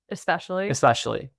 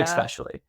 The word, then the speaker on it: especially: Especially. Yeah. I had an extra C in there, I think. Yeah. Especially. Sometimes people do like X, like EX, especially too.